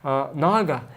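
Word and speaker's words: नाग: Like naga, you have long a, naga, and naga is short a.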